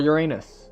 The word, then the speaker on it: Uranus: Time for Uranus. Or Uranus, depending on how you want to pronounce it.